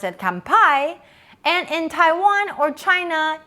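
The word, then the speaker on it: 乾杯: in taiwan or china you should pronounce it gambei which both means cheers in english so let's repeat it together again gambe is a chinese version kampai is japanese and which means cheers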